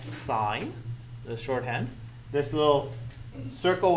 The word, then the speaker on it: sin: have this one that says Sim this is pronounced sine the shorthand this little circle with a line